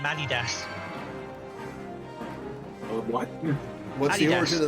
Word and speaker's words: Adidas: the or Adidas no NOP it's Adidas cuz it was um the the founder was called Adolf dasler Adas yeah in in America we pronounce it Adidas well in America we are apparently wrong not rare ruined